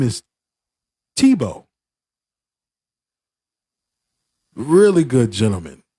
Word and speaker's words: Tebow: But it's not TBO. Even he said in the French language and French alphabet and how they spell things, they have 15,000 letters for nothing just to have a two-syllable name. And then when you looked at his name, it would be like Tybold because it had like 7, 8 letters in his name, but it's Tebow.